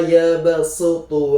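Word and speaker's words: يبصط: Wallahu yaqobbidu wa yabsutu wa ilaihi turjaun. Jadi cara membacanya yaitu dengan menggunakan huruf sin bukan huruf shad.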